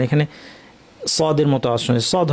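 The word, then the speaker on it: ص: যেমন সদকে উচ্চারণ করা খুব সোজা, যদি আমরা সিন উচ্চারণ করতে পারি, আস আস, একটা চিকন শার্প আওয়াজ, আসা, এটা হচ্ছে সিন, তাই না? এই আওয়াজটাকেই জিব্বা যেখানে লাগাচ্ছেন সেখানেই লাগাবেন, কিন্তু আওয়াজটাকে উপর ঠেলে দিলে সদ হয়ে যাবে।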